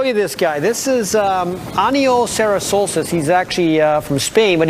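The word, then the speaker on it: Aniol Serrasolses: Aniol Sarasolsis.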